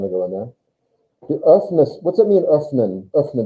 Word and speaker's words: öffnest: Even if you tried to not put an E in there and you try to pronounce it like that, oops, you're going to make an E sound anyway. Öffnest. I don't know how you get around not putting another sound in there.